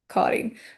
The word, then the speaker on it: Karin: You will say, hi, Karin or Karen. You can say it in an English pronunciation as well.